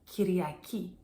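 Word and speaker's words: Κυριακή: The word for Sunday is kiryaki.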